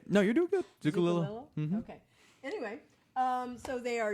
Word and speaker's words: Zucculio: Zucculio was a great pronunciation. Yeah. Zucculio. No, I'm still messing it up. Right? No, you're doing good. Zucculio.